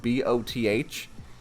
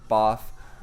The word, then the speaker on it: Both: I've got the last name of B O T H and uh you know if you just say it in a sentence it's it's pronounced both but you know my